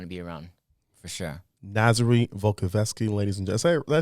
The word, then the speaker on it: Nazary Volkovsky: people you want to be around for sure nazary volkovsky ladies and gentlemen i say it right he